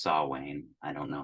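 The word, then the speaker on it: Samhain: spelled like s m h i n so Sam Hayne it's pronounced sa Wayne I don't know how that happened but it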